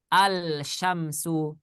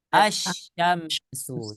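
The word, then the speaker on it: الشَّمْسُ: ada lamnya nih tetapi karena syinnya adalah huruf matahari ya sebagai huruf-huruf Syamsiah maka lamnya tidak dibaca bacanya bukan alsyamsu Tapi bacanya asyamsu coba ikuti asyamsuamsu asyamsuamsu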